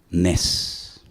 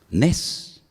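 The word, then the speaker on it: נס: Nes. Nes. N e S.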